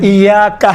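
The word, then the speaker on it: إِيَّاكَ: چھوٹے۔ آپ دیکھیں تلفظ کرتے وقت انشاءاللہ تعالیٰ یہ ملحوظ نظر رکھیں، ایاکا نعبد و ایاکا، کا نہیں ہے، کا نہیں ہے، ایاکا الگ ہے، آپ نعبدو ہم آپ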